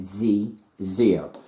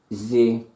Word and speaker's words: xe/xyr: All together now, XE/YXYR, commonly pronounced zeer. Okay, that's XE/XYR. It's commonly pronounced as zeer.